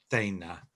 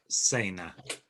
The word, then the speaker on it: cena: a soft sound um now s c as a sir might be sounded as a in certain parts of northern spain particularly around madrid so you can get words like uh dana for lunch or dinner instead of cena which you get in the south and certainly across latin america so we we talked